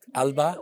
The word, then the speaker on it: Alba: Am I pronouncing it right? Alba?